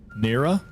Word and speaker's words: Nera: But the other one's called Voyages of Nera. I guess is how you pronounce that, N-E-R-A.